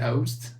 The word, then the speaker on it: oast: Is it Oast? Let me check the pronunciations just to make sure.